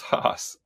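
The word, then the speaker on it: Haase: Is this Hos like the avocado? It is Hos. Like Hos, he's a Hos, I think.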